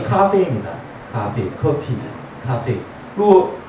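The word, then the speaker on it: 咖啡: 그 발음이 카페입니다. 카페이.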